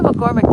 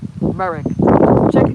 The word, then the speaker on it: McMurrick: But yeah, so check out Melissa oh wait, I said it wrong. McMurrick. I was saying McCormick like the I think that was a sewing pattern, right?